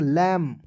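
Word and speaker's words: lamb: ए एम बी ठीक है तो इसमें बी साइलेंट करेंगे दोस्तों दोस्तों इसे पढ़ेंगे लम क्लियर उसके बाद देखेंगे डी यू सी के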